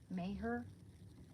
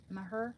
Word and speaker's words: Maher: Bill Mayer. Mayhur Maher. Maher. I think it's Mayher. Sorry.